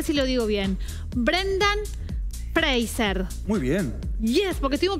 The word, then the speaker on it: Fraser: Brendan Fraser.